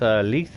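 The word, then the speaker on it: Lithe: One of my all-time favorites, Leith or Lyth, depends how you want to pronounce it, is a Feng Min perk.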